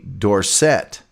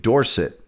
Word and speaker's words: Dorsett: controversy when uh tony dorsett you know everybody was pronouncing it dorset and he's like no it's dorset and people were like